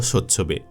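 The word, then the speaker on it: Tsotsobe: ভেঙে যাওয়া দশা হতো মূলত ইংরেজি লেটার এস এর আগে টি থাকলে সেই টি এর উচ্চারণ হয় না এবার নিশ্চয়ই পড়তে পারছেন তার নামটা হ্যাঁ তার নাম সৎচ্ছবে লোন পাবো স্বচ্ছবে আন্তর্জাতিক ক্রিকেটে স্বচ্ছবের অভিষেক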